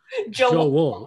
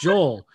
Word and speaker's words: Joel: him hendry i mean he would pronounce my name with two syllables he would call me joe joe wool it drove me insane and i'm like no it's joel and he goes i